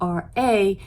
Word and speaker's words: Ra: ra a ra is spelled with an r e as opposed to r a as it's pronounced ra was sun god